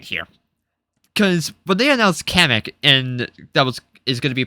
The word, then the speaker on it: Kamek: Side rant here, because when they announced Kamek and is going to be playable, they pronounced his name as Comic.